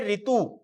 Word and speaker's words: ऋतु: कर सकते हैं, क्योंकि इसका उच्चारण क्या होता है? री होता है। री उच्चारण होने के कारण से बोले इसकी जरूरत क्या है, यही कर लो। जैसे हम लिखते हैं ऋतु, क्या लिखा हमने? ऋतु। जब ऋतु शब्द लिखा तो इसमें ये री लगाया, लेकिन ऋतु को